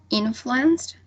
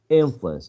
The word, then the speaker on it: influence: maybe at the beginning influenced first syllable yes i think so am i willing you agree all right i agree with her too in influence not influence all right influence first syllable right what about the